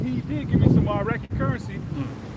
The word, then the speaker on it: Iraq: Iraq.